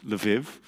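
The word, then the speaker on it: Lviv: murdered in yanovska prison in lav did i pronounce that right today we call it lev in ukraine and actually that city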